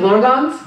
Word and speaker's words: Blorgons: First of all, we should officially fix that pronunciation. It is Blorgons.